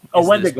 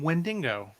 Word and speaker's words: Wendigo: Wendigo monster who was a Hulk villain. Yeah. Wolverine first appeared in Hulk. Or as my wife likes to call him, Wendingo.